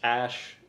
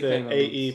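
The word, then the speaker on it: Æ: my god x z three or slash x ash uh a12 okay so they can say a e but it's pronounced ash okay so how do you know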